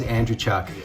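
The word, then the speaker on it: Andreychuk: TV 23 years and it was always Andrew Chuckie Andrew Chuck is from the hammer he's from Hamilton so if you guys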